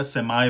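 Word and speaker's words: semi: British में हो गया सेमी, अमेरिकन प्रोनाउंसिएशन में हो गया सेमाई, ठीक है।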